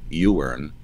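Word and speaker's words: Iwerne: entity that ran the you earn is spelled i wern you were in camps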